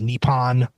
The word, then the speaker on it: Nippon: reorganizing in 1950 as, I believe it's pronounced Nippon, but the professional league that exists to this day, NIPPON.